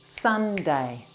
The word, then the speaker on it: Sunday: And the other weekend day, Sunday, Sunday. Sun has 3 sounds. S, A, N.